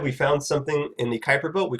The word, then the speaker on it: Kuiper belt: period comets come from someplace called the Kuiper belt that's how you pronounce that word Kuiper belt that are located beyond